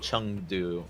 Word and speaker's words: Chengdu: So they both just Chung and Han, like they're just the same syllable. Hangzhou and Chengdu, like it's more of a ah sound.